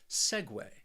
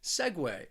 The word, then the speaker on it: segue: then we have segway this word also has two syllables and the stress is on that first syllable segway segway it just means a